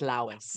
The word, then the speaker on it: Lois: create- It's pronounced Lois.